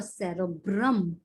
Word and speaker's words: cerebrum: going to be your cerebrum okay remember that the word brahm rhymes with drum so the bigger part